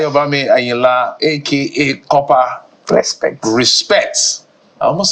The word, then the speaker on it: Kopa: The Kopa is Kopa. Okay, And the respect is normal respect.